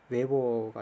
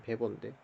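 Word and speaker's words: Weber: 단위 이런 것도 이제 웨버가 아니고 독일 발음으로는 베버인데 전혀 시험에 안 나오는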